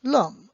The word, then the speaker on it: l'homme: We will explain the H later on, but the H, when it is silent, then you drop it also, and sorry, this is good, then it becomes l'homme.